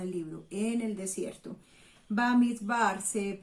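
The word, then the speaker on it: במדבר: Bamidbar se pronunciaría en hebreo.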